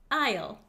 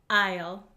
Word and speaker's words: aisle: daily so it's good to know how to pronounce it Isle okay please repeat after me Isle Isle Isle very good the next word that my